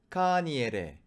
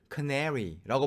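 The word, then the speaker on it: Kaniere: 제가 최대한 노력해서 읽어보면 이거예요. 카니에레, 카니에레. 호수니까 레이크 카니에레. 이게 마오리어로 된 호수 이름인 것이죠. 근데 영어를 하는 사람들이 카니에레를 못하는 거예요. 그래서 대신 뭐라고 발음하느냐? Canary라고 발음을 한다는 거죠.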